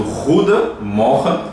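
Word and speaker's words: goedemorgen: Tem gente que fala só morra. Tá certo. Morra. Ruia. Ruia também. também tá certo, mas o ruda morra é é um correto pronunciado, né?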